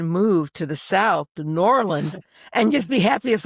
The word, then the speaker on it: New Orleans: to say it like with marbles in your mouth. New Orleans. It's very good. It's one word. It's not two words.